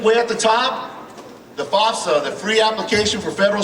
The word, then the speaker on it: FAFSA: It'll take you anywhere from FAFSA FAFSA is how you say it.